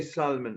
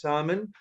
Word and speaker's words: salmon: type of fish but the L is silent we do not pronounce it we don't say salmon evident we say yes salmon so this is a